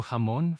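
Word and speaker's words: jamón: The J always, always, always has that strong guttural H sound, no matter what vowel follows it. So, hamon for ham or trao for work. It's never like the English J. That's a huge one for English speakers to remember. No J sound like in juice.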